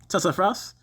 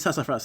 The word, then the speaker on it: sassafras: Sassafras. It's sassafras, okay. Sassafras, that's how it's pronounced, right?